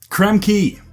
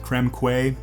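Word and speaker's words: Krem Quay: spews lava I guess creme key the next the next world is creme key I said this wrong as a child creme Quay didn't know how to pronounce key yet I've forgiven my past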